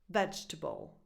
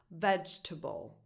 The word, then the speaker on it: vegetable: Vegetable, which already is a word a lot of people have trouble pronouncing. Vegetable. All the stress is on the first syllable.